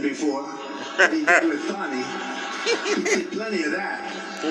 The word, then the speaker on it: Fani: He worked with Fani, even though it's spelled Fanny. F-A-N-I, Fani.